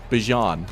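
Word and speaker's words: Bijan: I do think Bjon, which we learned that's how you actually pronounce his name, which I I'm always for like trying to get names right.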